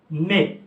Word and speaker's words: mets: Alors sa conjugaison au présent de l'indicatif maintenant, alors je dis je mets, adao, je mets. TS à la fin. Et TS ne se prononce pas.